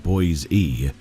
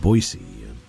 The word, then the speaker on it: Boise: He called it Boise and not Boise.